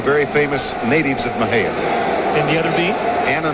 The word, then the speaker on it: Mexia: Raymond Rhodes, a native of Mexia, Texas, spelled M-E-X-I-A. Wow. Sometimes mispronounced as Mexia.